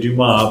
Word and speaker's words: Dumas: You know, it was actually Dumas, but we're Americans, so we pronounce it Not Dumas just like American. dumbasses.